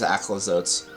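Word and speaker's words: Aclazotz: I guess it's Aclazotes. Yeah, it is Aclazotes. So I've basically been saying it wrong this whole time.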